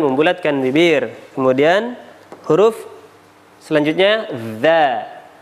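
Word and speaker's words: ز: Kemudian huruf selanjutnya za. Za cara mengucapkannya yakni mempertemukan ujung lidah kita bertemu dengan ujung gigi seri atau ujung gigi depan.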